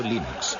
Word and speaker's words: Linux: esmo se pronuncia Linux bueno y Linux lo pronuncio Linux sin embargo si FES Lin no hayuda de